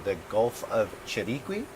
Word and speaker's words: Chiriquí: And we are located in, correct my pronunciation, the Gulf of Chiriqui? Chiriquí.